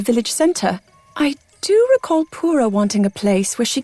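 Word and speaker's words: Purah: And also, that reminded me that I always say purr wrong. Apparently, it's pronounced pura.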